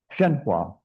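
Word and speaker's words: Hsuan Hua: How do you say Shan Hua? Shenua.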